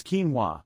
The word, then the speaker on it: quinoa: and for the record it's quinoa not k-w-i-n-o I know Rex I